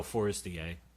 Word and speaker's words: Forestier: No, Forestier. I was not exactly sure how to pronounce his last name. It was like the word forest with I-E-R at the back end of it.